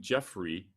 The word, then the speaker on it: Geoffrey: Talent is Overrated by a fellow named Jeffrey Colvin, Colvin. His first name is spelled Geoffrey.